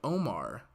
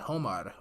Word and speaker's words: Homar: It's actually pronounced like Omar, so not Homar, Omar. So it's like in Spanish, the H is silent.